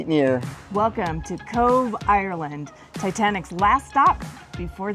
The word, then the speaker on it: Cobh: Today we're in Cove and yes, that's pronounced Cove.